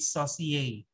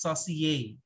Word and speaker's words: saucier: We have number one, the sauce chef, which is the saucier. Okay, by the spelling, but you pronounce it saucier. Pronounce saucier. Ayan. It's a French term, okay, for sauce chef.